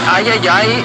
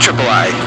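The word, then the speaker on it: Triple-i: partnering with called the Ayayay Initiative. Yeah, I'm pretty sure it's pronounced triple I. You know, like AAA, but with I for indie.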